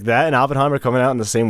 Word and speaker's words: Oppenheimer: dude, like that and Oppenheimer coming out in the same weekend. That's cinema right there. I love every time Oppenheimer, or however you say it.